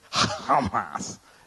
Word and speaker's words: Hamas: That's the way you're really supposed to pronounce it. Hamas.